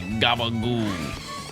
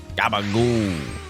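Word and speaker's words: gabagool: I believe the actual name is Capicola. I don't know how to spell it. But if you're from like Jersey or like Staten Island, you just say gabagoo. Gabagoo.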